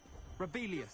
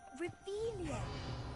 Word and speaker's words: Revelio: Rebellious. Saying it wrong. Ugh, Revelia. Much better.